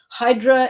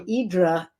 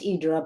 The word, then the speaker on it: Hydra: is the island of hydra if you don't live there and idra which is the greek pronunciation if you do live there um so for me it's idra but when i first